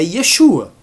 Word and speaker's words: Yeshua: revelada em hebraico, e a pronúncia é Yeshua. Ok? É Yeshua. Então não vai ser Jesus, Jesus, Jesus, Yeshua, Jesus. Não, vai ser Yeshua.